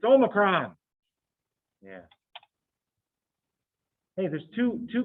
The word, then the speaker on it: omicron: have a clue how to say it it's omicron yeah hey there's two two greek letters that